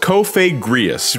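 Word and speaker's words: Cofagrigus: Yeah, it's pronounced Cofagrius.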